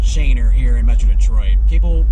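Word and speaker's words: Schoenherr: despite the fact that the road is actually pronounced Shaner here in Metro Detroit. People will give you funny looks if you pronounce it something else like Shunner or something like that.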